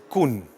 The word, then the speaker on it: Koen: want to say, so the way you pronounce my name indeed is Koen. Yeah. Well, it's not exactly an international name, it's a Flemish name.